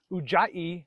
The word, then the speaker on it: Ujjayi: also called Victorious breath ujjaini has three syllables and the middle one is emphasized if it was spelled